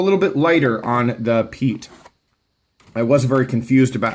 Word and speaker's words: Piet: Vox designs but the people at crkt say Pete and so I am saying Pete and that's the end of it when we